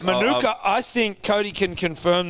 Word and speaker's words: Manuka: Manuka? Manuka. See, I say Manuka because in Arabic, like Manuk means like you take it off the ass. Right. So every time I see that honey bottle, like Manuka, I think Cody can confirm this.